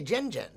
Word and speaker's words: Zen: The Z is pronounced like Jen. Okay, Jen.